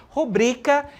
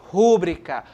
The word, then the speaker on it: rubrica: a gente fala rubrica a sílaba mais forte está no bri Ok e de acordo com a norma padrão com a norma gramatical rubrica certo é a forma correta devemos pronunciar rubrica e não rubrica Ok vamos ao nosso